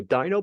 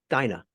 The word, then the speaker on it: Dyna: They go, Dino Pod? I mean, what is it? Did I say Dino? Did I say Dino? Dyna. It's Dyna Pod.